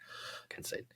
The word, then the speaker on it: Kincaid: We got a tight end, Dalton Kincaid, or I don't know how you say his name. Yeah. Kincaid.